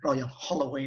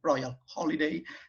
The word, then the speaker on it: Royal Holloway: the uk now and also for pronouncing correctly my university royal holloway rather than royal holiday as most students used to call it our royal holloway as